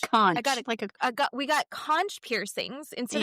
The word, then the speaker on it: conch: No, conch? It's a conch.